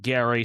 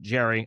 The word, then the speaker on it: Gerry: Now how you pronounce his name, some people call it Gary, some people call it Jerry.